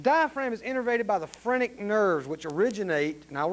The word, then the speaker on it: phrenic: The diaphragm is innervated by the phrenic nerves, which originate, and I'll repeat this so don't freak out, from the 3rd, 4th, and 5th cervical spinal nerves.